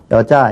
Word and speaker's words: 여자: 여자 이러면 뭐 이상해요 우리는 누가 가르쳐 주지 않아도 초등학교 학생들도 다 여자 이렇게 발음을 하죠 자 건너 뛰죠 유리리